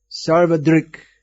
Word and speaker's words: Sarvadrk: questions about this place sarvadrik osavadruk yeah either way you want to pronounce it he's the seer yes